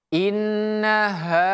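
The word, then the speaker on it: إِنَّهَا: Jadi bacanya ha tebal bukan ha tapi ha innaha seperti itu.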